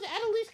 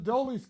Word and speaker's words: Adolis: adise adelise Garcia who's adelise Garcia a painter it's adolis Garcia yeah you I know come on ad leis Garcia it's embarrassing it brings